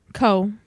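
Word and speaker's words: Keough: K E O U G H Co Co.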